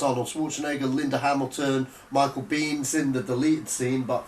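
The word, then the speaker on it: Biehn: Bean spelled B-I-E-H-N, right? This film was... It's not spelled like Bean, no.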